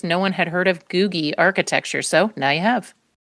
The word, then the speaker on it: Googie: Your answer is googy. Okay. Spelled like Google, but replace that L with an I.